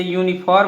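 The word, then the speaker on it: uniform: ऐसे यूनिफॉर्म हो गया, तो देखिए दोस्तों यहाँ पर भी यू आया है यानी वावेल आया है, और जो इसको हिंदी में अब लिखेंगे उच्चारण इसका करेंगे तो या आ जाएगा, तो या कॉन्सोनेंट है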